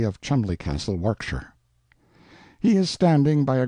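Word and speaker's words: Warwickshire: Pronounced Cubri Flanover Marshbanks sellers Viccount Barkley of Chumley Castle, Warkshire.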